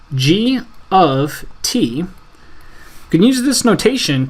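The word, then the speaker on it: G(T): parenthesis, T, right parenthesis, which is pronounced as G of T.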